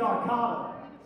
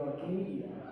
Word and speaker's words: Arcada: Because you know, when we come to the Arcata, or as Mark likes to call it, the Arcadia, you send out band emails, you type it out correctly, he still mispronounces it.